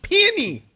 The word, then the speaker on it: peony: How do you say it? Penny? Peony. Peony.